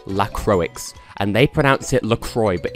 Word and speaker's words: LaCroix: I get that but it's still a French word it's spelled Lacroix so it's pronounced Lacroix God says the guy